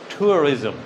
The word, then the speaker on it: tourism: Tourism.